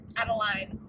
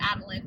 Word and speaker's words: Adeline: I started haunting Adeline adaline I don't know how you pronounce that name I'm gonna say Adeline because I think that that sounds prettier than Adeline but whatever um it just